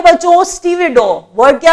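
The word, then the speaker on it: stevedore: Pronunciation ज्यादातर बच्चे इसे स्टीव डोर पढ़ते हैं। पहले देख लीजिए, आपको भी वो स्टीव डोर लगेगा, बट वो स्टीव डोर नहीं है, वो स्टीवेडोर है।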